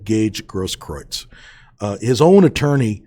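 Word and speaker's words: Gaige Grosskreutz: that's no surprise but at any rate it's gage grosskroyd's and the reason why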